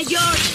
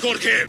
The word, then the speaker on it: Jorge: continuación irá mal Jorge mi nombre se pronuncia yor no me gusta que me respondas Jorge esto es otro secreto